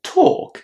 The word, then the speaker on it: talk: Walk, talk, August, daughter, all of these long or with walk and talk we have to remember that the L is silent.